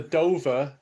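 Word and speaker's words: Dovah: I think that's how you say it. Yeah, Dover. D-O-V-A-H. Yeah, the Dover.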